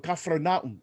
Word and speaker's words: Capernaum: For example, in Capernaum, right, or Capernaum, as they pronounce it there, when sitting in the